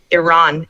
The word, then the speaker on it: Iran: Iran is actually how you pronounce it.